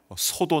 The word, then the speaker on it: 소: 자, 이 4절을 보시면요, 소도 나오고 사자도 나오고 하는데요, 이 소는요 발음이 소입니다. 소, 애굽 왕의 이름입니다.